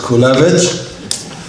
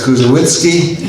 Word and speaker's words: Kulewicz: My name is Kulewicz. In the old country, it's pronounced as Kulewicz. I was introduced a couple of weeks ago as Kuzowitzki.